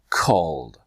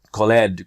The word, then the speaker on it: called: so now two steps call called call called if you train this way i promise you'll have better results and you won't be call it that colleed colleed right there slow